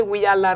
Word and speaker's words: Wiyaala: It's actually Wiyaala Rejimba. That is the real pronunciation. That's the local way of pronouncing Wiyaala Rejimba.